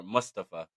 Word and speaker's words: Mustafa: little card here uh we had Mustafa Ali or Mustafa that's how he wants to pronounce he's going to smack me one day Musta for Ali sorry my bad